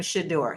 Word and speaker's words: Shedeur: Now, I'm noticing he is pronouncing his name Shador.